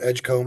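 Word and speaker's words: Edgecombe: demon kid who talented freshman Baylor's got the Edgecomb I believe is how you pronounce it the um pretty highly ranked freshman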